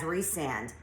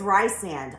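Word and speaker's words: Rhysand: character's names but resand I will never read that name as resand it is rye sand I can't help it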